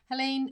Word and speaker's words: Helene: So Helene Denny, it rhymes with Queen. I remember you telling me. Helene, well done.